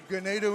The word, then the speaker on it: Ganado: Ganado Indians rhymes with tornado.